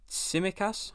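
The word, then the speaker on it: Tsimikas: on to liverpool now i've gone with simakas i think that's how you say his name because i think it's a silent t um but yeah it's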